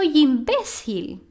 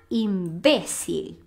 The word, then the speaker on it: imbécil: A gente fala em português imbecil, mas em espanhol a gente fala imbécil.